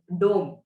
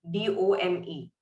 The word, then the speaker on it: dome: For example, we have the word dome, D-O-M-E. So can anyone say that how O is pronounced in the alphabets? Yeah, O. So even in that word, it is pronounced as dome, om.